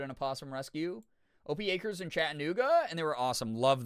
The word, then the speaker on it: Chattanooga: Um, it's Chattanooga. It's not Chat Chattanooga. Am I How's Wait, how is what I'm saying different? I feel like I was saying it that way.